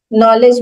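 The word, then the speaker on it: knowledge: जैसे बोला जाता है कि नॉलेज, साइकोलॉजी, ये सारे में पी, साइकोलॉजी में पी है ही नहीं, नॉलेज में के है ही नहीं।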